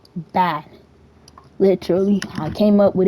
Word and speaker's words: BA: So, on the lines of joining, basically to join the the gang is called BA, you know, it's literally B A. It's pronounced bad.